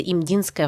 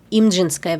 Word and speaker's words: Имджинская: Официальным термином, используемым в большинстве источников, является имдинская война. Данный вариант произношения является некорректным для современного корейского языка. Вместо звука д в названии фигурирует Ч. Поэтому произносить я буду приближено к оригиналу.